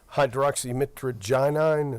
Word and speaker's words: hydroxymitragynine: And I think that is, and is that hydroxymitragynine? Is that how that's pronounced? Yes, sir.